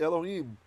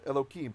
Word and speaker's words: Elohim: in pronunciation right so most of you know the rule to be respectful when we're not praying to god we refer to him as elokim and if you've ever